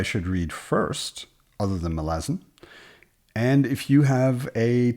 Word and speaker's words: Malazan: is conscious of is Malazan is an adjective, and it's an adjective that follows the rules of English. So if you pronounce it Malazan, then you also have to pronounce it American and Canadian and Australian.